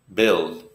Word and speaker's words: build: to the our work build you have to work hard to build the house this is a short I sound in English bill not